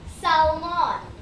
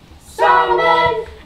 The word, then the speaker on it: salmon: We're still working on silent letters. We always paired salmon. Salmon!